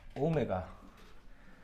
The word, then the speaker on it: 오메가: 3차 방정식의 허근 이거 W처럼 보이지만 실제로는 뭐라고 읽냐면은 오메가 아마 내가 알기로는 알파, 베타, 감마라고 하는 그 그리스 문자인가? 그 그리스 문자의 맨 끝에 있는 게 오메가인 걸로 알고 있어요. 아무튼 읽는 방법은 오메가가 되는데 그냥 표현 자체만 그냥